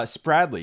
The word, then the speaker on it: Spradley: all right here we are with uh spradley is that how you pronounce the last name yep you got it